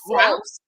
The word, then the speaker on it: Gross: name gross like gross okay gross gross